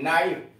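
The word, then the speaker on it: knife: के साइलेंट, के एन ओ सी के, नाक, के यहां साइलेंट है, नाक, खटखटाना। के एन आई एफ ई, नाइफ, चाकू, नाइफ, चाकू।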